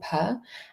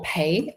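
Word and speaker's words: פ: So the tower card has this little Hebrew symbol purr and or pay as some people pronounce it too.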